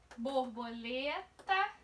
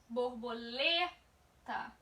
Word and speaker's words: borboleta: Ao pronunciar a palavra em voz alta, a palavra borboleta, por exemplo, você perceberá que a sílaba lê, borboleta, lê, é pronunciada com mais força do que as outras.